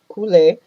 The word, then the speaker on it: couler: And then couler, the C in this case is pronounced like a k.